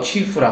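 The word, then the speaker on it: 曲阜: 성의 수도는 제남이고 진안, 태산 공자의 고향 곡부, 중국말로 취후라 하죠.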